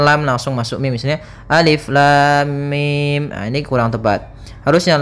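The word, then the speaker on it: الم: enam harakat saja maka cara yang benar membacanya adalah seperti ini Alif Lam Mim panjangkan dulu lamnya kita ulang kembali Alif Lam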